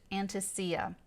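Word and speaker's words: antiscia: So, the sun at 8 degrees of Sagittarius is literally 1 degree off, having moved past this exactitude formed an antitia. Or, I've also heard it pronounced anticia.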